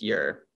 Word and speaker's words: Ure: least close enough but my actual last name is ure pronounced year thanks for the question